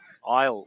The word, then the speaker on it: Isle: Isili, I think he likes to pronounce. Beg your pardon. Isle, we're being told.